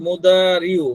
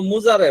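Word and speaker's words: مضارع: হ্যাঁ এই যে মানে আমরা তো ফেলে মুদারিউ মানে যদি আরবিতে উচ্চারণ করি কিন্তু বাংলাতে হইলো মুজারে বলে মানে ওই যে এখানে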